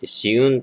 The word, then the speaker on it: 紫雲: ですねしうんっ紫の雲とかえって紫雲と読むんですよこちら